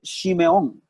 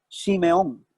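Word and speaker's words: Shimon: En hebreo, la palabra Simeón, el nombre Simeón se escribe Shimeón, como se oye, S-H-I-M-O-N, Shimeón.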